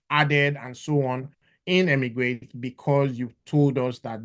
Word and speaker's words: eMigr8: often please do the immigrate Visa app is on the App Store and Google Play Store immigrate is spelled Emig G with the